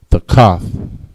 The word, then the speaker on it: thakath: Under in Hebrew is thakath. Thakath. Tha, cha, and tha. Thakath. All right, next word we have is understand.